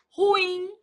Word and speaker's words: ruim: Ruim. Ruim é uma palavra oxítona.